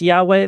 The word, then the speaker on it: Yahweh: So, so Israel had um the Lord uh sometimes pronounced Yahweh, though we don't usually say the name out of respect for uh the holiness of God's name.